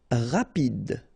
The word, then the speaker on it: rapide: Rapide, so same thing for final E, don't insist on it, just pronounce this D, rapide.